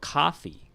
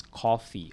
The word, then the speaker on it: coffee: a cup of coffee the more neutral and asian pronunciation is coffee all right but americans and most british will say coffee coffee coffee it's almost like an ah but not an ah all right it's between the o and the ah so